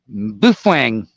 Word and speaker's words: Baofeng: the Baofeng, uh, or I've heard that the official pronunciation is Baofeng. I don't know. I've always said Baofeng, but like I said, these things um, they will.